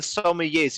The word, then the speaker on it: sommelier: Sabak Squadron, the Corellian Sommeliers, you are the only one to pronounce that properly. So help us here. Sommeliers? Yeah, Sommeliers? in French we could say sommelier.